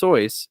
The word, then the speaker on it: Seuss: is a pen name it is however it's pronounced soyce and and him saying in a poem that it's pronounced soyuz is completely valid and that is how it's pronounced whether it's his pen